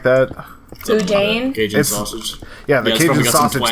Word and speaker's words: boudin: I basically kept trying every form of like po' boy ever, and I found like what is it, like Bidoon, something like that. Boudin?